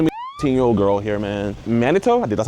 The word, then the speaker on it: Manitou: Manitou?